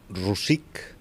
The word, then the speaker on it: Rosic: In Catalan, Rosic.